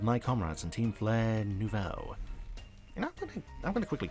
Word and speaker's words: Nouveau: This is Grisham, one of my comrades in Team Flare Nouveau.